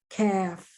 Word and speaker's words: calf: When the L in the word is silent, it's not pronounced. Half, calf, salve, calves.